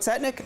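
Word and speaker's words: Tzetnik: how to pronounce it, Chetnik or Tsetnik. Tsetnik? We should go with Tsetnik?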